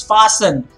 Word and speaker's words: fasten: in it but it's fastened so remember that the T is silent there well what are the